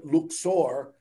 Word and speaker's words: Luxor: valley of the kings in luxor or as the locals pronounce it luxor this is one of